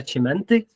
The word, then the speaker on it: Cimenti: honored guest today was Claudia chimenti I hope I now pronounced well perfect very well J and my name